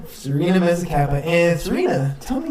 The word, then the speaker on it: Serena Mezzacappa: Yep, Serena Mezzacappa. Serena Mezzacappa.